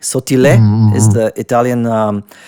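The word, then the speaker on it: Sottile: Anthony Sautil you know it's it's of Italian descent like this last name. So sautil is how you actually pronounce it.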